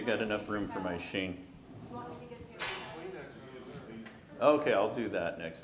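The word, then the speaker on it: ש: The sheen can sound like sh or s.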